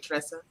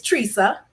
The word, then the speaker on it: Teresa: pronouncing your name right Tressa it's Teresa I want to pronounce it right thank you I always tell people it rhymes with Lisa okay I got you